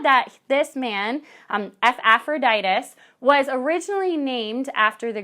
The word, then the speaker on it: Epaphroditus: you can remember that the beginning is pronounced like the beginning sound of ephesians and that the rest of it is similar to aphrodite's it's aphroditus but similar